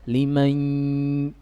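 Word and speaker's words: لِمَنْ: Liman, perhatikan bacanya, liman, ada suara di rongga hidung, liman, sehingga kalau ditutup berhenti. Iya, itu kesempurnaan idgham bi gunnah.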